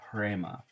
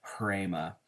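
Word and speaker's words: ῥῆμα: It's a rough breathing mark, so you add a little bit of air as you're pronouncing that, and it makes a little bit of an H sound. So hrema is our word there.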